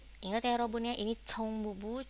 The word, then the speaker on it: 총무부: Seperti yang kita belajar kemarin ya, ini huruf C ya, CH, berarti ada apa ya? Ada angin yang kuat berhembus dari mulut Yorobun, ca ca ya, chong mubu. Dan jangan lupa juga ya, di bawah ce itu ada u ya, di bawah huruf ini ada huruf u ya, dimana itu pelafalannya mulutnya dimonyongin dikit ke depannya, chong mubu ya.